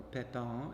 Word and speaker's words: Pepin: Pepin, or Pepin, if we want to keep pronouncing things in French, is educated by the